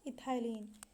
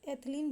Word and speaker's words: एथिलीन: तो उसके ऑप्शन दिए गए हैं, ऑक्सिन पहला ऑप्शन है, दूसरा साइटोकाइनिन, तीसरा जिब्रेलिन, चौथा इथाइलिन, जिसे एथिलीन भी कहते हैं। दोनों ही उच्चारण सही है, इथाइलिन बोलिए या एथिलीन बोलिए।